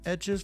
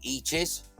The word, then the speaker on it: Etches: guess I took the American instinct is to call it is to say eaches and it's it's not like the drawings